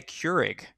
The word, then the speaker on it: Keurig: i have become more human i bought a keurig is that how it's pronounced yeah so i could make tea and